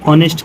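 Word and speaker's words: honest: जाएगा एन ऑनेस्ट person अब हम इसे ऑनेस्ट क्यों पढ़े एच कैसे साइलेंट है यह भी हमने पढ़ा है कि ओ से पहले कोई भी वर्ड आ जाए तो वो क्या होता है साइलेंट होता है आप जा कर के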